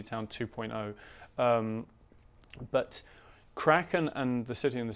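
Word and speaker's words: Kraken: your two most recent books crackin am i pronouncing there well I say crackin but I don't really care what people call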